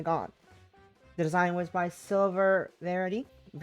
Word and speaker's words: Silver Varity: The design was by Silver Varity, which I've apparently been mispronouncing the whole time because I'm dyslexic. thought it's severity. It is silver varity.